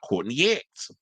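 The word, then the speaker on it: Courtney Act: But I did say drag queen before, which I did bring up, why not Courtney X? Until which it was brought up, because that's how you say her name.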